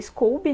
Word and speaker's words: SCOBY: A pronúncia em inglês seria Scooby, né? Muitas pessoas falam Scooby, mas a maioria fala Scooby e não tem um certo errado, não precisa, sabe, às vezes